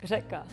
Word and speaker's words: řeka: Yeah, we have because in Czech we do have like one letter, it's ž, and it's not like R, but it's kind of like R with like your tongue is like vibrating, so it's ž, and even some Czech people have like problem with pronouncing that.